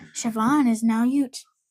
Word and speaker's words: Siobhan: Siobhan's traditionally Irish female. Female. I know. And it's spelled definitely not the way it sounds.